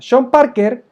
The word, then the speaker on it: Sean Parker: O creo que es sean Parker se pronuncia Shan Parker este personaje es el